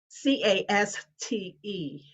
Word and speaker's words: caste: that word is cast c-a-s-t-e yeah it looks like case but it's pronounced cast and of course it's